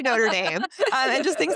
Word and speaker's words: Notre Dame: But, then like she didn't pronounce Notre Dame, the university, correctly. She called it like Notre Dame or something. A combination of the cathedral and the It's predominantly Irish university. They definitely say Notre Dame.